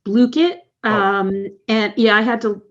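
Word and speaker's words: Blooket: It's Blookit.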